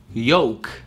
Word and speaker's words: yolk: Или яичный желток. Yolk. Это просто, вот просто убирайте L. Это yo и k. Yolk.